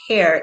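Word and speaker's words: heir: right so this is the h is at the beginning of hair h-e-i-r honest and honor have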